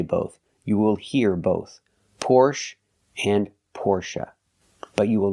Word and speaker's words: Porsche: The stress goes to the first part of the word and we say fore never say forche.